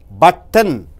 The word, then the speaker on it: button: இங்கே பாருங்கள், பட்டன், BUTTON. அந்த டீக்கு அப்புறம் எண் வரும்போது டீயிலிருந்து எண்ணுக்கு ஜம்ப் ஆகி விட வேண்டும்.